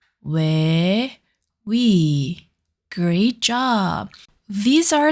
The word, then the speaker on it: 왜: To pronounce it, round your lips like O, but make her sound similar to 에. Repeat after me. 왜, 왜, 왜.